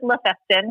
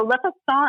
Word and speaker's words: Le Festin: So it's people pronounce it La Festin, which I'm like, all good. It's kind of like my name. If you can, if there's a semblance to it, then that's how you pronounce it.